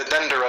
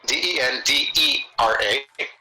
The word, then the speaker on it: Dendera: The Dendera Zodiac. Know that you have to rotate it and flip it to put it in the right direction. How do you spell that? D-E-N. D-E-N? D-R-A. D-R-A? Den. D-E-N-D-E-R-A.